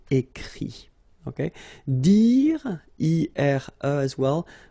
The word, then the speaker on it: écrit: Remember that even if you've got this final T, you don't pronounce it, so it goes like écrit, okay.